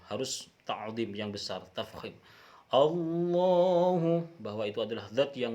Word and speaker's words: Allah: Jadi Allah itu adalah sesuatu lafadz yang agung, harus membacanya dengan agung. Harus dengan benar, dengan lafadz yang benar.